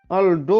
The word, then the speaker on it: Aldo: Aldo Pak Ci, Aldo. Dia kan Aldo kan gue bacanya tadi. Gue bilang Aldi ya.